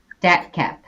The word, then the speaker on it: DATCP: Is that DAT CP? Is that how you all typically refer to it? DATCAP. DATCAP. Okay. Yeah, we like add an extra A in. Yeah. Pronounce the acronym.